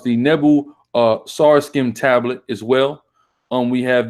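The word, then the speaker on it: Nebo-Sarsekim: We have the it's pronounced the Nebu Sarskim tablet as well.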